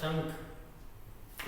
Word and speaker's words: शंख: शंख में श के ऊपर अनुस्वार होता है, श के ऊपर होता है, तब ये इसका उच्चारण होगा शंख।